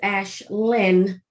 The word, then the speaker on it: Ashlyn: My name is Ashlyn, and I break my name down into 2 syllables, and I enunciate the ending of my name.